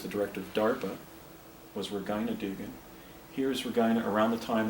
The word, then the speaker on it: Regina Dugan: Here's Regina, or also known as, actually I think the correct pronunciation is Regina Dugan.